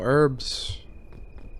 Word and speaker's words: herbs: Like they come When you say When you say herbs, you don't pronounce the H. Oh, herbs.